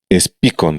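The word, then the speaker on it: Speakon: SPICON se llama, SPEACON se escribe.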